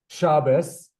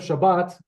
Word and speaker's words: Shabbos: And that's how you say it in the Ashkenazi dialect. So yeah, Shabbos, like this, will become, instead of Shabbat, in the Ashkenazi dialect, will be Shabbos.